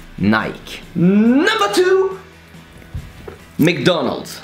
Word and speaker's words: McDonald's: So for you, it's McDonald's. So it's almost Mick and almost Donald. Well, it is. Well, for us, it's McDonald. So how to pronounce it? That's easy, just replace the Mick with a Mac, and the Donald's, I